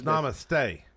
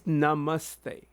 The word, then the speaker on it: namaste: So I mean it's it so it's namaste. No no it's namaste. Namaste. Yeah. And you put your hand like this. So that that's what that's how they greet people. It's like namaste you know like they'll do that.